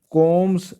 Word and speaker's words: corm: Rhizome में ZOM आता है जोम, और कोम में आता है CORM, इसको कोम प्रोनाउंस करते हैं।